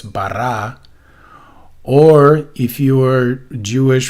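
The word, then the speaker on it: ברא: you can just say just don't do the english bra right that's completely wrong that's just english so the original would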